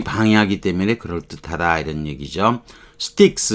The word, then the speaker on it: Styx: sticks 요 발음 요렇게 되는 거 sticks 강 이걸 삼도내라고도 하고 이렇게 아까 명사로 쓰일 때는 모르지만 이렇게 as black as sticks 이렇게 쓰기도 해요.